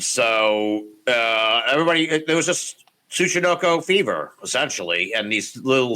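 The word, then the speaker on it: ツチノコ: It's TSUCHINOKO. So Tsuchinoko. There it is. I always have trouble with the TS.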